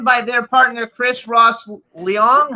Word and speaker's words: Leong: It's written by their partner, Chris Ross Leong. How do you pronounce it? Yes, that's it. Yeah. Leong.